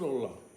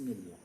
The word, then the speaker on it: اللہ: حرف اللہ کے پہلے اگر زبر یا پیش ہو تو حرف پورے منہ سے پڑھا جائے گا. ہوا اللہ، نصر اللہ. تو آپ نے دیکھا کہ پورے منہ سے بھرا ہوا منہ اللہ آپ تلفظ کریں گے. اور اگر اللہ کے پہلے اگر زیر ہے تو لفظ اللہ خالی منہ سے پڑھا جائے گا، جیسے بسم اللہ.